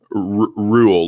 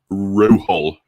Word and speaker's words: Rule: Rule, like rule of thumb, you know. That's how my name is pronounced. See, Sam Shamoon calls me Ruhel.